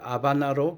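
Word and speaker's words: Habana: 수도인 아바나 국제공항에 도착했습니다를 아바나로 발음하는 것은 스페인 의에서는 h 무음으로 처리하는 까닭입니다 공항에 도착 후 한시간이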